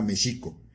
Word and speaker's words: México: Aquí no se pronunciaba, en náhuatl no se pronunciaba México, se pronunciaba Mexico.